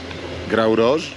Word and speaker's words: Grau Roig: Ja jestem w sektorze Grau Roche. Powiedzmy, że tak się to wymawia.